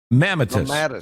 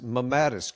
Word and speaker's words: mammatus: How do you pronounce it? Mammatus? Mammatus. Mammatus.